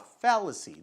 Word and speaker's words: fallacy: Então olha só, essa é uma palavrinha aqui lá, fallacy, né? Então olha onde é que tá a sílaba forte, né? Então eu vou, ó, passar aqui um pouquinho para você, olha para você ver como é que é fácil de ler isso, tá? Ó, sílaba forte, F.